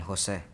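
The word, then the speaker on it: José: as I stated before taking the accent off my e is the equivalent to taking part of the meaning of my name away also it changes the pronunciation of my name taking away the emphasis that should be given when actually swinging Jose in conclusion I believe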